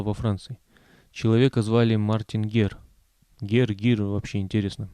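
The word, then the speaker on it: Guerre: Человека звали Мартин Гер. Гир, вообще интересно. Даже написание на латинице отличается только удвоенной «р» и наличием перед «е» буквы «у», которая не читается.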